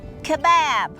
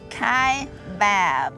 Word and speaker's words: Kaibab: as I've told her it's kab Kaibab spelled k a i b a b so it's not Bob it's bab we have enjoyed our